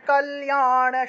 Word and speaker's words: कल्याण: च मे रक्षेत् प्राणान् कल्याण এই যে লয়ের সাথে জফলা ছিল এবং আকার ছিল সেজন্য কল্যাণ শোভনা ণ উচ্চারণ হবে মূর্ধন্য থাকায় ণ प्राणान् कल्याण शोभना रसरूपे